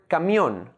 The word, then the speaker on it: camión: Like in the word camión, made up of two syllables, ca and mión. The last syllable, mión, is the stressed syllable.